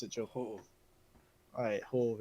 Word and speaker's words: Ho-Oh: How do you pronounce it, Joe? Ho-Oh.